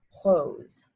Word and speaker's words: rose: away that's okay but again it's pronounced hose and the last color